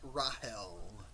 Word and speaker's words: Rahel: her name was yeah Rachel and but they pronounce it Rahel uh so the German pronunciation yeah I'm not sure